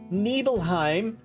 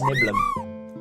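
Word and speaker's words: Nibelheim: If you think it's pronounced Nebleheim, you're wrong. It's Nibbleum.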